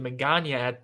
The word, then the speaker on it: Magaña: The easiest way to do it is it rhymes with lasagna.